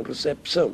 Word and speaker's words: recepção: morfológico há ortografia diferente receção que os brasileiros realmente pronunciam recepção portanto aí manté mas do ponto de vista da aprendizagem da grafia por exemplo uma criança Portuguesa que di receção tem que pôr lá um p mas direção tem